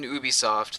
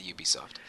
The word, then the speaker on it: Ubisoft: gonna try to say Ubisoft it's ubiquitous software so okay oh so it